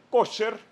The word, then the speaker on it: kosher: Por ejemplo, la carne kosher o kasher, depende de cómo lo quieran pronunciar, es una cosa complicadísima para el judaísmo.